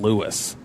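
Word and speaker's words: Louis: Like we're talking guess his last name is spelled like that. L O U I S. I would have guessed Lewis the last name would have a W.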